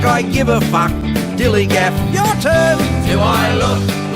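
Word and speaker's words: DILLIGAF: That's spelled D-I-L-L-I-G-A-F, Dillygaff, and this is what it means.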